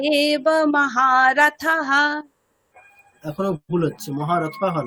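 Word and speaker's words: महारथः: তাহলে থয়াকার বিসর্গের উচ্চারণ কিরকম হবে, থহা নাকি থাহা, কিরকম হবে? থাহা, হ্যাঁ থা হবে, থা। তাহলে উচ্চারণটা কিরকম হবে, মহারথাহা, দীর্ঘ হবে না?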